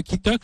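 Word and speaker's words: Quitoque: À vos côtés, Étienne Boix, cofondateur de Kitok. Alors, je veux dire, on est dans la. Alors Kitok, pour ceux qui nous écoutent en radio, ça s'écrit QUI Tok, comme la toque d'un cuisinier.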